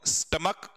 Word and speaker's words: stomach: आप तो मोनार्क बोलते, इसको बोलते क्या, स्टमक, क्या बोलेंगे बताओ, स्टमक, ठीक है।